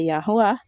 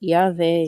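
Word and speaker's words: יהוה: Que a pronúncia em hebraico antigo é Yahuwah. Se você quiser pronunciar Yahvé, Jeová, aí é com você. Senhor, Deus, enfim, é com você, tá? Você decide como você quer pronunciar o tetragrama. Em hebraico antigo é Yahuwah, tá? Se você quiser chamar Yahvé, aí é com você. Ou Jeová, enfim.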